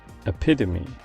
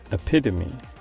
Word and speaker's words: epitome: is an adjective that makes you think it should have three syllables but in reality it has four this word is used